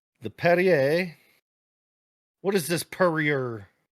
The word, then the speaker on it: Perrier: these aren't even G to pronounce it the right way the perer what is this perier Perrier the French I was